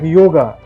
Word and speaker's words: yoga: Like yoga, we don't call yoga in India, we call yoga. But for foreigners, because of we add a, so we call yoga. But this is not yoga, this is yoga.